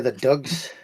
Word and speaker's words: dugs: They're the Dugs. That's how you say it in Scottish.